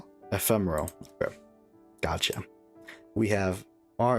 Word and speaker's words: Ephemeral: It's called R Ephemeral.